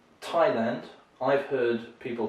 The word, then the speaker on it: Thailand: is your thigh uh so thailand that sounds unusual because it's a place where people show their thighs a lot that's a strange mistake in english we say thai and the name of the people or the native language is thai so that's the easy one to remember so thai and where they come from they come from thailand and the final one